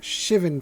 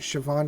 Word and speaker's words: Shivan: five six casting cast Shivan dragon I always counted Siobhan dragon for the longest time until I have heard it pronounced correctly so if you've ever